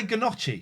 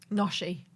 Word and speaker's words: gnocchi: Imagine how one might pronounce gnocchi badly. Then listen. How do you think this person's going to say gnocchi? Noshi.